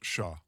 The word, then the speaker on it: cher: Oh, it's actually pronounced shah.